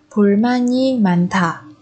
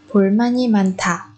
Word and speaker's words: 불만이 많다: 불만이 많다. 불만이 많다. 불만이 많다. Ở đây chúng ta nối âm man và y thành ma nhi.